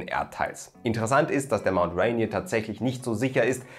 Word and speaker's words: Mount Rainier: Wenn man sich die Geschichte des Mount Rainiers anschaut, dann wird man erstmal feststellen, ja, Mount Rainier ist tatsächlich die richtige Aussprache.